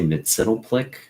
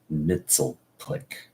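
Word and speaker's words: Mxyzptlk: People say Mitzelplick. I always understood it or read it as a kid to be Mitzelplick.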